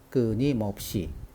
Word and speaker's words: 끊임없이: 이렇게 됐는지 한번 볼까요 끊임없이 는 4 문자로 되어 있죠 4 자 맨 첫 번째 문자는 받침이 느새 인데요 느라고 만 발음합니다 예 받침이 느 인 경우에 흔 은 여느 막아 일어나지 않을까 라고 생각하는데요 으 의 경우에 여느 은 화가 일어날 수 있는 환경이라고 하더라도 흐 는 발음하지 않습니다 앞에 있는 느 다